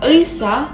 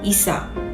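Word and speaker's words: 의사: Seperti pengucapan kata dokter seharusnya Eisa menjadi Isa. Contoh lainnya seperti pengucapan kata apel yang seharusnya sagwa menjadi saga.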